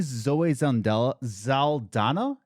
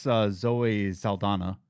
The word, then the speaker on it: Zoe Saldana: You know, there's no question of why we're doing it, except for probably Zoe Zaldana.